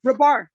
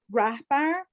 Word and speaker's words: Rahbar: back to my okay how do you pronounce your last name oh rebar right yeah i mean some people that pronounce the age okay i'm just trying to get back to my collage um they say rapper but you don't really like it it's either or is fine i've been living in